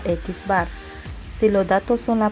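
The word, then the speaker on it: x̄: media se expresa con x que se pronuncia x bar si los datos son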